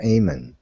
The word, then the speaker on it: Eamon: think his name it Eamon is how it's pronounced she says it's Irish aiming think that's how it's